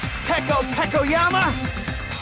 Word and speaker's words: Peko Pekoyama: Which means it was you, Peko Pekoyama! That's how you pronounce it.